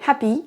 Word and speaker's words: happy: C'est la même chose pour happy. On ne va pas prononcer happy avec la même intonation sur les 2 syllabes. On prononcera la première plus longtemps et plus fort. Happy.